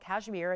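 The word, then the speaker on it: Kashmir: these Stones hail from this is actually called cashmere it's spelled with a K it's k-a-s-h-m-i-r and that's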